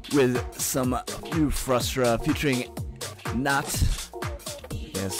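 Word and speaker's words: Nahte: Going with some new Frustra featuring Nat.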